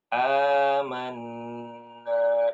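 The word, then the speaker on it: آمَنَّا: mad Ya ya Nah cara membacanya dipanjangkan dua harakat nah ini contoh Rabbana inana amanna begitu ya begitu ya Jadi ini aslinya ini Badal bu a ya amanna dinamakan mad badal Kenapa karena ada Hamzah ketemu a Alif ya Mad bad eh apa Hamzah bertemu dengan alif dan dia dibacanya dua dua harakat ini untuk riwayat Imam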